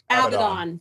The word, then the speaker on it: Abaddon: Abaddon.